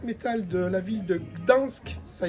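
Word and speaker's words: Gdańsk: Ensuite, l'album du groupe extrême de black metal de la ville de Gdansk, ça y est, je le prononce correctement, en Pologne.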